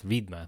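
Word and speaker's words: відьма: no no no don't it's not vidma it's vidma like you they correct you on your pronunciation yeah they swear properly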